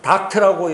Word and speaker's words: 덕트: 이게 다른 말로 말하면은 예전에 우리가 닥트라고 여러분 들어본 적 있으세요? 그 음식점 가면은 막 고기 구울 때 연기를 빨아내 밖으로 내는 거, 그걸 닥트 공사라고 덕트라고기도 하고, 우리 일본식 발음은 닥트라고도 하잖아요.